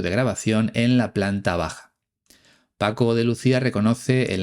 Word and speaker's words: bajar: hace unos minutos, que Paco de Lucía no pronuncia la R final en el infinitivo de los verbos bajar y tocar. Él dice baja y toca.